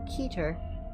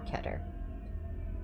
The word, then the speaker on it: Keter: on who you ask is pronounced either keter or ketter i'll be pronouncing it keter but if anyone has any issue with that do correct me the keter class is